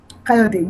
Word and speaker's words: Kayode: Kayode. Do you say the E at the end of the Kayode? Kayode, yes.